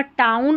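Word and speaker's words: town: चलिए नेक्स्ट देखें, यहाँ पर टाउन और ब्राउन। ये जो टाउन और ब्राउन में OW है ना, ये आउ पढ़ा जा रहा है, और ये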